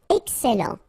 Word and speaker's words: excellent: Excellent. Remember, double L and E before, it will open the E, so excellent, excellent.